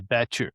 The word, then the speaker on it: batture: The batture The batture or the batture or how do you say it, Clint? Batture. Batture. All right. Got to roll that R.